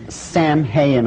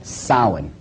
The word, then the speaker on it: Samhain: Now, when you look at the name, it looks as if it's saying Samhain or something like that. No. This is properly pronounced in the ancient Gaelic as Samhain.